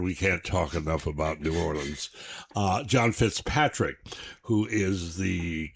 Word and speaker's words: New Orleans: can't say New Orleans, and you can say Orleans, but only if it stands alone.